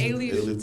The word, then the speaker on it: Alief: Is that how you pronounce it? Yes, Alief, Texas.